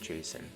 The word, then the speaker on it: JSON: can hit 5j yeah json has pronounced jason engine x the ammo